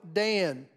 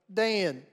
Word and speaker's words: Dan: But if we're speaking as a Hebrew would speak, the letter A, as it sounds in Dan, is not in their alphabet. Like Dan, Can, or Ran, they would use the